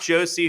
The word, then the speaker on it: Josey: And Mark, just so I'm clear, your last name I pronounced Josey, correct? Yes, sir. Okay.